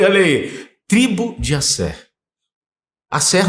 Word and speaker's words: Aser: Asser, nossa pronúncia, ou Asher, que é uma...